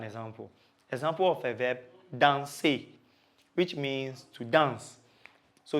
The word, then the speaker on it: danse: Example of a verb, danser, which means to dance. So to say I dance or I am dancing, I will say je danse. So you realize that I didn't pronounce the I.